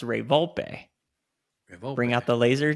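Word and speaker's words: Ray Volpe: and then it was Ray vul who actually his name is pronounced Ray vulpe rayp bring out the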